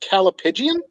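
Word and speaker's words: callipygian: does caliphagen mean uh it's pronounced calipidian and it's a word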